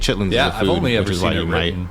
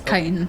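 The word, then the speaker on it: chitin: I'm saying I'm saying chitlin yeah I have it's C it's pronounced kitan yeah it's kiten yeah it's pronounced it's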